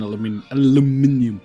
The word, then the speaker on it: aluminium: Yeah, I need steel and then aluminium. Also, when you're on the research... Or like the Americans say, aluminum.